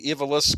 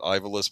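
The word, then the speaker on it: Ivalice: Uh, Final Fantasy Tactics, the the Evilis Chronicles. We used to always pronounce it Ivalis, but I think it's Evilis.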